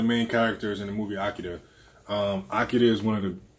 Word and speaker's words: Akira: fire, Akira t-shirt. Super fire. And yes, I'm saying Akira because if you watch the movie, that's how he pronounces it. It's not Akira, which is the American way. It's Akira.